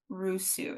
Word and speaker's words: Rusu: have a beloved author her name is Meredith Russo is that how you pronounce it it is you got it right